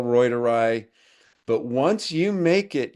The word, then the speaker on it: reuteri: Some people call it reuteri. The correct pronunciation, cuz I speak German, is reuteri.